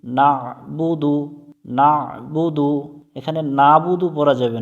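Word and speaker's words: نَعْبُدُ: পেশবু দাল পেশ দু নাবুদু নাবুদু এখানে নাবুদু পড়া যাবে না এখানে অনেকজনে আমরা নাবুদু পড়ি এখানে আইনটা গলার মধ্য থেকে একটু চেপে উচ্চারণ করব নাবুদু ইয়াকা নাবুদু ওয়াও জবর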